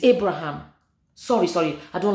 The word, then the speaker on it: Abraham: um ibraim I say I keep saying Ibrahim sorry Abraham Abraham sorry guys oh my God I'm so sorry it's Abraham sorry sorry I don't